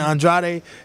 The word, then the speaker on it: Andrade: of ver my pride my family that's how they pronounce it Andrade and then you know